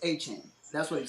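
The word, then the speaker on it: Etienne: He came out and said the way you properly pronounce it is Achan.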